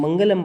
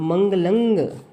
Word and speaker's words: मंगलं: लेकिन अगर सही उच्चारण करना है तो मंगलंग, मंगलंग वर्ड आएगा। ठीक है, अंग, अंग की साउंड आएगी जी।